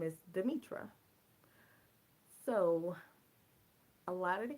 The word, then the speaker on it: Demitra: think that's probably when I started out saying Demetria instead of demitra but I I actually said Demetria a couple